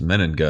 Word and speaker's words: Mennenga: it's pretty simple you just read it it's men Anda it's obvious I know it feels like the